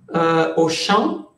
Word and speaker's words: Auchan: Y es O, al, y Champ es campo, y es la traducción literal. Fonética, porque escrita se escribe diferente, pero al campo, pero es fonéticamente al campo.